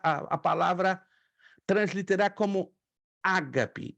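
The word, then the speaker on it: ἀγάπη: vendo uhum a transliteração eu coloco a sílaba tônica na primeira a g p e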